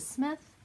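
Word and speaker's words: Psmith: have Leave It to Smith, because the P is silent like in Delaware.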